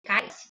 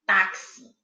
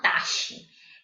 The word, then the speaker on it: táxi: Nossa, a gente pronuncia assim, táxi, tá? E não taxe, como seria o som do X mesmo, ok? Então fica táxi.